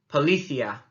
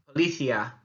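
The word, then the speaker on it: policía: One of them is the accent on the I, and the other one is the fact that the C is actually a th sound as we say it.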